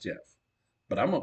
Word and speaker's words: Gef: his name like Jeff gef but says it's pronounced Jeff but I'm gonna call him Jeff to talk to Mongoose this was in 1931.